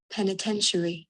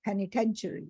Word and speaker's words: penitentiary: yes I'll just show you and this is p-e-n-i-t-e-n-t-i-a-r-y pronunciation yes Penitentiary Penitentiary Penitentiary Penitentiary is a prison so you can